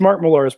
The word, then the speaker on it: Millar: Mark Millar. Mark Millar. It is fun to say like that. This is Scottish, so you should probably pronounce it Millar, something like that.